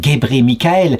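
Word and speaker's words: Gebre Mikael: l'Église orthodoxe il s'appelle gébré Michaël ce qui s'écrit Gabra Michaël mais se prononce gébré Michaël ce qui signifie en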